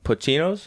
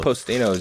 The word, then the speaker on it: Postino: We started off at Pochino's. Is that how you pronounce it? Postino. Yeah.